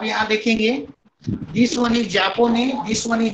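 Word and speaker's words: japonais: अब यहाँ देखेंगे this one इज जापोने, this one इज जापोनेज, this one इज मारोके, this one इज मारोकेन।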